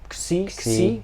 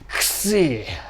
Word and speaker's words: Xi: I think well, in Japanese I think it was Xi, so I think it's Xi, G, Xi. Because it's like the Greek symbol.